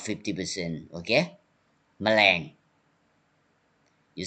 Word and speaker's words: แมลง: 100% tone but half tone 50% mama you pronounce 50% okay แมลง you say clearly แมลงกึ่ง mean half or 50